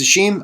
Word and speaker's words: Hashim: um I found out his name is pronounced oh Hashim I apologize it's not AE it's Hashim I apologize I don't